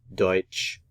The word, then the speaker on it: Deutsch: Zen English another language German in German is Deutch German Deutch German deut the syllabification for this